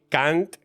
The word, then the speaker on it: Kant: con las palabras no K que es una palabra en en maltés que significa cantando pero se pronuncia igual que otra palabra en inglés que significa otra cosa muy distinta y básicamente sirviendo pues